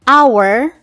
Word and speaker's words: hour: Jika diperhatikan, huruf H memang tergolong konsonan, tapi pengucapannya pada kata hour diawali dengan vokal, sehingga menggunakan en, bukan e ya.